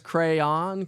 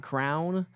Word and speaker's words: crayon: She says crayon. Crayon, not crown.